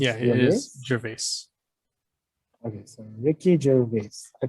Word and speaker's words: Gervais: I think that's how his name is pronounced. Yeah, it is Gervais.